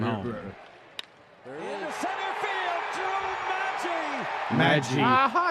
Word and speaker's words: Maggi: minor leagues where, and is his name Maggie? Is that how you say it? Am I getting Drew Maggi? It's not Maggie.